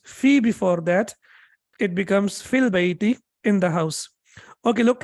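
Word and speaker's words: في البيت: But when you connect it with al, then ya is not pronounced.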